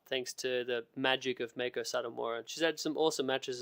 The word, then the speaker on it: Meiko Satomura: Pronounce her name again. I don't want to brutalize it. Meiko Satomura.